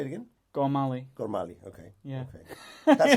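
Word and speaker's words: Gormally: direct how does he how does he name himself well I think it's I think it's gorali gorali with with with PR um with a strong a gor Al or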